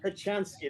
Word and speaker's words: Kochanski: Kochanski, that's it.